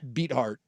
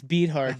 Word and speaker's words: Beathard: Beathard. Oh yeah, CJ Beathard. CJ Beathard or whatever it's Beathard. No, I think it's Beathard. Dude. I believe it's pronounced Beathard. I like that better.